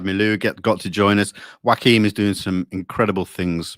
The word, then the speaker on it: Joachim: Yeah, you keep on calling him Joaquin, like Joaquin Phoenix. But that's the only thing. When I see the name on the screen, it's spelt the same, and I'm English. In Holland, it's probably pronounced different. It's Joachim. Joachim.